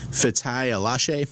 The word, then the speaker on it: Fatai Alashe: I'm also interested, we talked a little bit last week about the presence of I'm going to butcher this pronunciation, Fatai Alashe. Is that how you say that? Yep, it is.